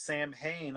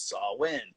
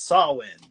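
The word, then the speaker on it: Samhain: are like oh it's sam hayne i'm like the original pronunciation for it is sawin if you see and trick or treat they call it sawin yeah celtic wanted it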